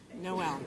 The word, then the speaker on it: Noel: And Noel is 2 syllables. Noel, not just.